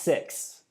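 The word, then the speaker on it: SICK2: it's just called no it's pronounced six but it's just like it's spelled sick and then the number two so um but uh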